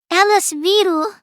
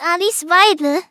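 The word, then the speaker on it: Alice Weidel: vle is a very Alice vle oh my God he can't even say her name it's Alise VI not need very reasonable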